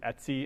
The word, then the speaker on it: etc: is stands for etc people in the UNIX world usually pronounce it at C instead of etc they